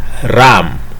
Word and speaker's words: RAM: random access memory and this random access memory is normally pronounced as ram ram at times may